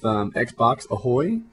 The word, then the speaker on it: XboxAhoy: I'm going to lead this off with XboxAhoy, properly pronounced from now going forward.